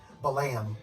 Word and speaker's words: Balaam: with Balaam and the angel that the actual pronunciation is the lamb and the lamb is a historical biblical figure